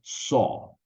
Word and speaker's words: saw: motosierra o como una sierra cierra se dice sol Ok sol y ese sí tiene un pasado